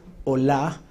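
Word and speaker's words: olah: holocausto en las traducciones en el hebreo es Hola con acento en la a H la también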